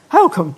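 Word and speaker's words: Holkham: north norfolk yes you did so you know holcomb yes is that how you say it how come yes yes how do you say it welcome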